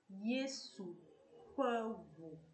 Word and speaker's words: Yesu fe vu: Yesu pevu.